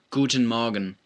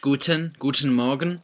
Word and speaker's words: Guten Morgen: For now, just learn the sentence Guten Morgen. Okay, sometimes you'll hear the T pronounced, Guten Morgen. Sometimes you hear it sort of slurred together, Guten Morgen, right?